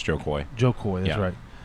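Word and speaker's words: Jo Koy: But see, even that, so Joe Kim, did I say his name right? No. Was Joe Kim, it's Joe Coy.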